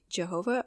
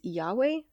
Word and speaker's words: Yahweh: think that's how a lot of P people pronounce it Jehovah or Yahweh sabboth it is Yahweh um I was just so wrong but um